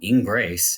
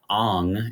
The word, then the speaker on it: Ingres: how to say it in grace is not correct on is what we've been taught to say so Jean Auguste Dominique